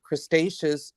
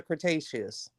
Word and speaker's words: Cretaceous: okay I'm confused a c mollusks from the crustaceous interior Seaway huh yeah I'm sorry no pronounce that uh that's all I said that is Crustaceans or Cretaceous Cretaceous sorry Cretaceous Ontario Seaway the um ammonite